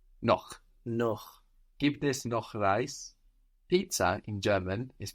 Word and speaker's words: Pizza: than no no no give this no rice Pizza in German is pronounced pizza pizza pizza pizza is there any